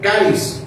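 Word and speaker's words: χάρις: que viene del griego caris que se escribe con x saris significa dispuesto inclinado favorecido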